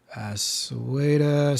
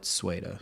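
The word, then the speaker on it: Sweida: It's Sweda.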